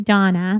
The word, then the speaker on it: Dana: so for everybody listening her name is Donna but it's spelled like Dana and you just must get so much confusion around everybody here in the u.s.